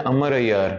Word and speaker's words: अमर अय्यार: जरूरत नहीं होती, तो उमर भी वैसे लिखते हैं अमर भी वैसे लिखते हैं। सही प्रोनाउंसिएशन है अमर अय्यार, अमर अमर अय्यार जी। अगर बचपन की कहानियों की बात तो उम्र अय्यार ही, तो वो वाओ उन्होंने डिफरेंस।